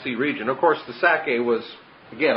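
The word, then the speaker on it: Sacae: region, of course the Sake was, again, I just picture the word Isaac, and Sake is S-A-C-A-E. It has the syllable of Sak, Isaac, or Itzhak right in it.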